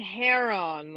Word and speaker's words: heron: The emphasis on the syllable was a little weird. No I or E. So there you go. It's just heron.